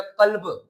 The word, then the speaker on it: قلب: دل۔ اور کیف، کتے والا کیف نہیں ہوتا، وہ قلب کا مطلب ہوتا ہے کتا۔ آپ کو کوئی قلب پڑھے، دیکھیں نا پروننسیشن، تلفظ، تو آپ تلفظ میں جب کوئی اچھے پروننسیشن کرنے والا ہو تو وہ بولے گا قلب، دل، وہ پورے بولے گا قلب، کیف کی آواز نکلے گی، لیکن آپ کو